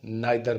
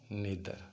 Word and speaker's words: neither: جو لفظ ایدر ہے اس کو آئدر پڑھتے ہیں اور نیدر کو نائدر پڑھتے ہیں. یہ تلفظ غلط ہے. جو ٹھیک پروننسیشن ہے وہ ہے ایدر اور نیدر.